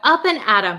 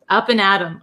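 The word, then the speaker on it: up and at 'em: started up an adom so you can say it like this or you can say it like this same pronunciation up and atom up and atom okay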